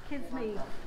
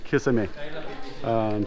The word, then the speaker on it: kisame: Kiss me. Kiss me? Kiss me. Bad English pronunciation, kiss me, but kisame.